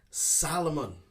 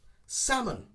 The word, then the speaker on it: salmon: of a silent letter i hear many people saying salmon salomon actually it's one that i don't like to hear being pronounced wrong okay and the correct pronunciation is to ignore the l sound salmon salmon the salmon in canada